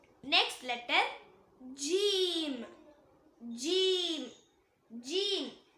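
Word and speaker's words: جيم: Next letter ஜீம். ஜீம் ஜீம். இத நாக்கோட நடுப்பகுதி மேல் முரசை டச் பண்ணும்போது சொல்லக்கூடியது.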